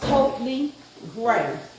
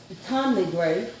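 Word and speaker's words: Ptomley Grey: Yeah, the P is. That's what I'm saying. Totally Gray, not Tommy Gray.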